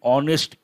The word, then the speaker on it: honest: means what involved in honest introspection willing to engage unwilling to engage to expressions in what honest not honest h is silent the letter h is mute honest introspection important expressions